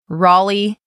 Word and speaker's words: Raleigh: Raleigh, North Carolina. This one can be confusing because it's spelled R-A-L-E-I-G-H.